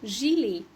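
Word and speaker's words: gilet: بيبقى محشي ده كده بس يكون كط اسمه جيليه جيليه جيلي اخرها اوتيه عنطقها ايه اخر كلمه دي استخداماتها كتير قوي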